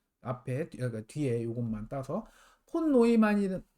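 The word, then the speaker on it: von Neumann: 82년 전에, 어, 여기, 이건 이제 존 본 뉴만이라고 읽으면 좀 이상해요. 그쵸? 왜냐면 이 사람은 독일 사람이니까. 이거는 요한 폰 노이만 이렇게 읽는 게 맞을 것 같고요.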